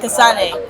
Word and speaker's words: Kasane: Is that how you say it? Casan Kasane. Yes, we're going on a rhino safari, a water safari.